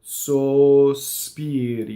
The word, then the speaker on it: sospiri: The first syllable had two S's, right? I can't phonate. So when you're singing and you're singing kind of slower than speech, you don't want that S to be hissing on the first note. So, sospiri. You can also practice so, stop, spiri. Sospiri. Okay, so notice that the RI is just a flipped R. It's not a rolled R, and it's not an American R.